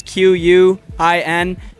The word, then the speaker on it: Quintanilla: Yeah, so remind people of the socials, and then So my name is spelled Quintanilla. Last name is Quintanilla.